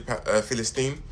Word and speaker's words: Palestine: And you can't even tell your your people free Palestine. And I love how you pronounced it, Palestine instead of Palestine because that's like the Arabic way of pronouncing it.